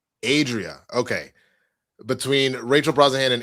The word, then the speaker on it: Adria: Adria Arjuna. Adria.